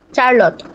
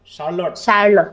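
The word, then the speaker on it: Charlotte: queen কি চারলট হ্যাঁ queen queen শারলট চারলট উচ্চ এটা হবে কি উচ্চারণ হবে শারলট কারণ শারলট ব্রন্টি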